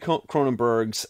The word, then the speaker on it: Cronenberg's: I'm very proud of myself because I'm finally pronouncing his last name correctly David cronenberg's uh I mean look is this the best